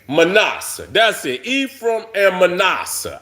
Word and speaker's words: Manasseh: Manasseh. Manasseh. I do want to stress on the second. Manasseh.